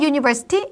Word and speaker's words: university: 자, 유니버시티 하면은 우리가 스펠링으로 우라는 모음으로 시작되고 있지만 발음이 우 발음이 아니라 또는 어 발음되는게 아니라 유로 발음이 되고 있죠.